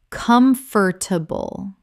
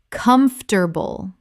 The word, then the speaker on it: comfortable: Common mispronunciation, comfortable. Correct pronunciation, comfortable. This is only 3 syllables in natural speech, not 4.